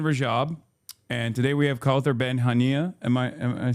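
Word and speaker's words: Kaouther Ben Hania: So that's the voice of Hin Rajab and today we have Kther Benhania.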